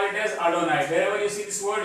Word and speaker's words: Adonai: what that means is whenever you see this one, you don't pronounce this word and you make this word and you call this as Adonai.